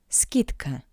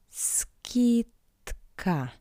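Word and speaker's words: скидка: Skidka. Ski- tka. Skidka. The voiced consonant "d" in front of the voiceless consonant "k" sounds like it's paired consonant "t".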